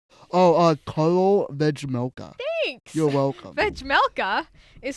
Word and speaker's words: Vejmelka: Oh, Carl Vejmelka.